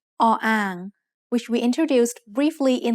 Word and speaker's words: อ: This is the letter O-ang, which we introduced briefly in lesson 6. The word ang means basin. O-ang is a middle-class consonant, but it has no sound as the initial consonant of a syllable.